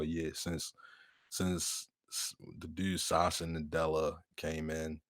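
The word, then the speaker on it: Satya: years since the dude Sasha Nadella came in. Sacha, that's how they pronounce it. Sacha. Yeah, I mean, I call him Sasha.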